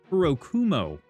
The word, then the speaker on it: Kurokumo: So, we did that last episode and we can see we have some kamicuro grunt grunts the kurum kurokumo. That's the that's how you pronounce it.